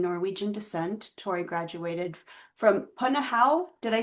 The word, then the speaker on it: Punahou: Born and raised in Honolulu, of Hawaiian, Chinese, and Norwegian descent, Tori graduated from Punahou. Did I say it right, Tori? Punahou. Punahou Mm-hmm.